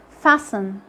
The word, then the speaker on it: fasten: Letter T is silent when it comes after an S in words like castle, whistle, listen, fasten. And with the last letter we have today, letter W.